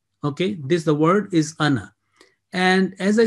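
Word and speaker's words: أنا: this the word is anna and as i said that if we are joining with the next word in our recitation this alif is written but it is not pronounced remember nowhere in the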